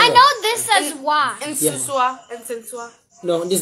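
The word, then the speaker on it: nsesaawa: Gina, how do you pronounce it? No, it's not. It's, not. It's what? Nsiwa.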